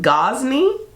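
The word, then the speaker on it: Gozney: However, I believe it's pronounced Gosney, and their pizza ovens, their outdoor ovens, I need it.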